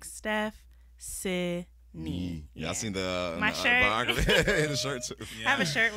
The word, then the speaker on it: Stephcynie: pronounce your name again it's s-t-e-p-h-c-y-n-i-e and you just think like steph c knee yeah i have a